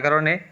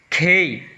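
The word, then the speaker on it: K: বি সি ডি ই এফ জি এইচ আই জে খেই নট কে, ইটস খেই খেই।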